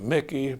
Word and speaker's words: Muecke: full name is Mickey and the Mickey is spelled a little differently than you would expect Please spell it for